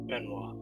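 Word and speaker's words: Benoit: benois benois Ben W it's two syllables Ben say it with me Ben Benny benoa benoa like I feel like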